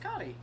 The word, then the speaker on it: Kati: It's pronounced Cotty. Davis actually talked to the developer who made it. It is pronounced Cotty. They're talking about what a lot of people call Katie Jones.